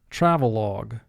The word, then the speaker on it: travelogue: Travelogue. 3 syllables. First syllable tra, 3 sounds. T, r, a. Ve, 2 sounds. V, e. Log, 3 sounds. L, a, g.